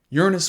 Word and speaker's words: Uranus: the ice giants of Uranus and Neptune. And yes, that is how you pronounce that planet.